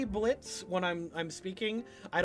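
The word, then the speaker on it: Blitzø: okay um someone uh the O is silent yes we know um I usually say Blitz when I'm I'm speaking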